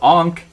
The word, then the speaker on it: ankh: a newbie and then i know this is pronounced ankh i've heard people pronounce